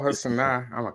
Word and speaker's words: Sanaa: But that's Sanaya? Not how you pronounce her name. Sanaya Lathan? It's like Sanaa Lathan. It's like Sanaa or something like that. Yeah, Sanaa.